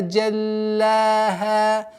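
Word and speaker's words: جلاها: Джаль удваиваем, а потом удлиняем с огласовкой фатха. Джаллаха. Аннулируется фатха. Джаллаха.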